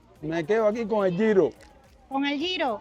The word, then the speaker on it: gyro: Bueno, se escribe Giro, pero se pronuncia Giro.